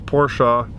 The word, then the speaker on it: Porsche: the makan and i'm sorry if i say porsche i know it's porsha but uh i need to